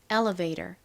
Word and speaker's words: elevator: 한국식으로는이이 E를 엘리베이터 이렇게에 소리로 발음하거나 엘리베이터 이렇게 E 소리로 발음하는데 미국식 원어 발음으로는 elevator 이렇게 어에 가까운 소리가 납니다.